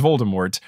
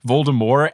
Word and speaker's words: Voldemort: to say it is voldemort and if you don't pronounce the t you are trying too hard and i will judge you i've been on a couple harry potter podcasts where they said voldemort and it took every